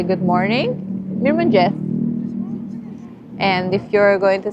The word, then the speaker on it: mirëmëngjes: Mirëmëngjes.